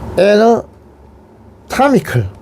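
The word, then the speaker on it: anatomical: 애너타미컬, 이거는 뭐냐면 그 해부학적인 이런 뜻입니다. 애너타미컬, 에 발음 나요. 타미컬, 아 발음 나요.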